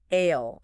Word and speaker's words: aisle: Ale. Okay. No s. So not isol or ail, just ale. Correct. It's a common feature in English where historical spellings often linger long after pronunciation has changed.